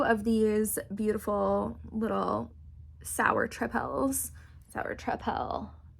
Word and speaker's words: tripel: I have had 2 of these beautiful little sour tripels. Sour tripel. It's not spelled like triple. It's spelled like tripel.